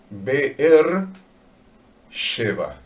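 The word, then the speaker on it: באר שבע: En hebreo, Berseba se pronuncia beer l sheeva.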